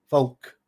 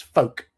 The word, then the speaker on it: folk: I the word Folk a lot of Americans pronounce the L K Folk but it's Folk as in f-o-k-e but